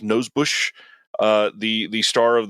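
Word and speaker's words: Nosbusch: other than that Desiree I believe it's pronounced nose Bush uh the the star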